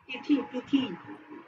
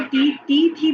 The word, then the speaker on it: तिथि: जब हम इसको टी थी पढ़ेंगे तो लिखने, जब हम जैसे प्रोनाउंस कर रहे हैं बच्चों को लिखवाने के लिए टी थी बोलेंगे तो बच्चे दोनों साइड में बड़ी ई की मात्रा लगाएंगे। Very good. और जब हम दोबारा एक बार हम उसको तिथि बोल के फिर दोबारा वापस उसी तरह से बोलेंगे तो बच्चे जैसा सुनेंगे वैसा ही लिखेंगे, क्योंकि जब हम ई